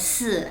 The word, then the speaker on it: 四: bad luck number, because 4 is pronounced as 四, and 四 sounds like 死, and 死 is death.